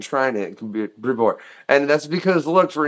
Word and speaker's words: Brevoort: Is it a like a long O sound or an ooh? It's more of a long O sound. Brevoort.